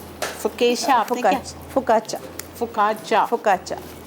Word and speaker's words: focaccia: फोकाचा हम कितना गलत इसके- प्रोनाउंस करते हैं। हम लोग फोकेशिया भी कह देते हैं और फोकाशा भी कह देते हैं, लेकिन जो एक्चुअल इसकी प्रोनाउंसिएशन है दैट इज़ फोकाचा।